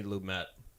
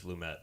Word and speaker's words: Lumet: So as we talk about our first viewing of the 1976 Sidney Lumet. It is Lumet, not Lumet. It's Lumet, really?